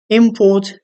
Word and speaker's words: import: as a noun but if the stress is on the second syllable on Port Import in that case we understand it as a verb you see the category